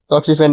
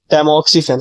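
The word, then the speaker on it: tamoxifen: हूं burst cancer में टॉक्सिफेन है ना टॉक्सिफेन नहीं इसको कहते हैं टेमोक्सिफेन सॉरी मेरी प्रोनाउंसिएशन मिस्टेक हो गई यहां पर तो ऐसे कुछ सिंपल-सिंपल एमसीक्यूस हैं।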